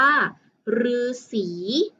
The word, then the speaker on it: ฤาษี: แบบ นี้ นะ คะ อ่าน ออก เสียง ได้ เพียง ขั้น หนึ่ง เสียง นั่น ก็ คือ เสียง รือ เช่น คำ ว่า ฤาษี ฤาษี ที่ เรา มัก จาก